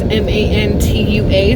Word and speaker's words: Mantua: mmm oh but technically the spelling of it is m-a-n-t-u-a so if you want to get technical it's pronounced mantua but they pronounce it